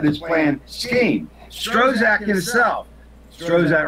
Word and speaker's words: Strzok: Strozak himself, Strozak rhymes with Prozac.